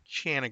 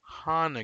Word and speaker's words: Hana: first note is that I or my friends say through the video chanana Goodman but through a mutual friend of ours learned that her actual name and pronunciation is Hana Goodman sorry about that well